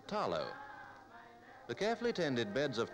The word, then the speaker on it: talo: Outstanding in the Samoan diet is the taro, pronounced here with the L as talo.